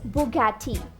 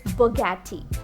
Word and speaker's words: Bugatti: Many mispronounced it as Bugatti, but it's Bugatti. Bugatti, not Bugatti, it's Bugatti.